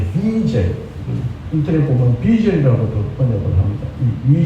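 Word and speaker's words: Wiesel: 유대인 작가인데요 마니아 작가이기 때문에 저는 이책을 번 비젤 인터넷 보면 젤이라고 번역을 합니다이 젤이 영어식 바람이니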